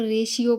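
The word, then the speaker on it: ratio: Illustration चित्र रेश्यो अनुपात देखो जनरली हम इसको नॉर्मली हिंदी मीडियम वाले जानते होंगे। जब इसको पढ़ते हैं तो रेशियो पढ़ देते हैं। रेशियो नहीं रेश्यो।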